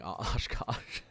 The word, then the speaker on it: Oshkosh: You got Oshkosh, right? It's just pronounced how it's spelled.